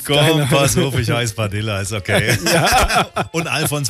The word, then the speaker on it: Padilla: dachte mir das schon, da du ja kubanischen Ursprungs bist, ne, wird das nicht mit Doppel-L ausgesprochen, Padilla, wie es viele sagen, ne, sondern Padilla. Ja, mittlerweile sage ich auch Padilla.